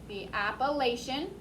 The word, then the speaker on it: Appalachian: how it's spelled but that ch sounds like chef instead of chuck appalachian mountain a little louder